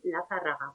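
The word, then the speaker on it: Lazarraga: haga otra pequeña corrección intentando que mis alumnos pronuncien la zarraga porque es es la pronunciación a besa del apellido como tenemos una especie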